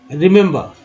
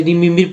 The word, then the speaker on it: remember: अगर एक ही तरीका उच्चारण कर जाए, रिमिम्बिर पढ़ जाते हैं, रिमिम्बिर गलत हो जाता है।